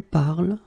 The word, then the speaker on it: parles: So it does mean that even if you write them differently, E, ES, and then ENT, you will pronounce them the same way.